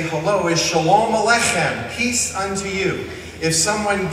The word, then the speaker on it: aleichem: In order to say aleichem properly, I always tell people, pretend you have a bagel stuck in your throat and you're trying to clear it, because the accent is on the in alech.